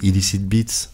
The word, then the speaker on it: Illicit Beats: production c'est illicite béat c'est à l'anglaise mais j'aurais du mal à le prononcer illicit beats Beats exact illicit beats